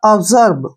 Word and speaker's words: absorb: में करेंगे, जा के, क्योंकि जब भी एस के बाद ओ आता है वर्ड के बीच में तभी एस का उच्चारण ज करते हैं, तो इसलिए हम एस को ज पढ़ेंगे, ज, और आ का उच्चारण करेंगे, ठीक है।